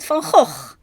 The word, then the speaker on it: Van Gogh: our good friend Vincent Fonhawk, which they and then proceed to completely mispronounce him in any of a dozen different ways, all of them wrong. His name is Vincent Fon Hawk.